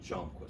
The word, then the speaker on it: Hjalmquist: My part of the family pronounces it Hjalmquist, so the H is silent.